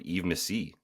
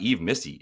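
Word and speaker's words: Yves Missi: dude incredible pronunciation of Eve Missi um it's not Eve Missy it's eve Missy so that was beautiful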